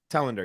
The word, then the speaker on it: Telander: am I pronouncing your last name right? Tender. Talender.